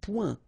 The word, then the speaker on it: point: Un point. Un point. Alright, so you can see that here the only difference is the final letter, okay, but then they are pronounced the same way and both of them are masculine.